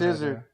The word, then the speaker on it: Izzard: The pronunciation. Oh yeah. I thought it was Izzard. And then he also. So it's Izzard.